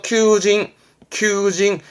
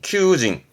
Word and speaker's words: 求人: 발음 똑같아요. 이것도 큐입니다. 그래서 큐징 늘 말씀드리지만 우리말로 한자 읽히면 발음은 거의 같다. 그렇게 하는 거지요. 그래서 구인은 큐징.